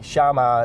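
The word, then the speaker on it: Xiaoma: another guy too uh shiaa NYC it's spelled x i a o m a NY C shama is is like a small horse um in Chinese NYC cuz he was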